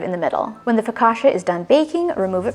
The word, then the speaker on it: focaccia: focaccia during this video the proper way apparently is focaccia i grew up saying focaccia though so that's just